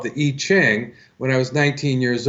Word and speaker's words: I Ching: Now, in my case, I fell in love with this thing called the I Ching when I was 19 years old. Or some people pronounce it I Ching, and in Chinese it means the Book of Changes.